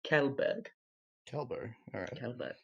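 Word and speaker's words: Kjellberg: on the daily and his last name is pronounced quel jobber is yeah Swedish it's a word language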